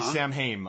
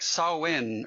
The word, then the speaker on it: Samhain: movie it's like no it's like saw win or something like that I'm not kidding I